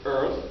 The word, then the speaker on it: earth: But in part where you would leave the H off and say earth. And you also add a glottal stop to the vowel. So instead of earth, you say earth.